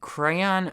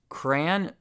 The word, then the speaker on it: crayon: ways to say it the biggest debate seems to be between crayon versus cran like cranberries one syllable versus two I don't want to take sides here hey I think there's room in the world for all different pronunciations but here's how I say it crayon two syllables and I think that's